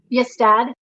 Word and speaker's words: Ystad: research about an abbey that is found in Ystad, Sweden. Is that how you say it? Yes, Dad.